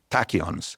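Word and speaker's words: tachyon: Tachons. Tachons. It's from the word tachio which means fast.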